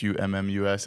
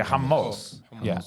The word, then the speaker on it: hummus: I I wanted to know why some people spell it hu m m u s and then h o m m oos or